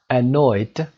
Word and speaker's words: annoyed: For example, annoyed is pronounced d, irritated is pronounced irritated, id, and depressed is pronounced t, depressed.